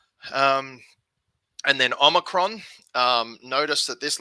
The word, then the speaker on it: omicron: lot at the moment it is not omnicron um or omricon which is how i used to get confused with omicron omicron it's always short oh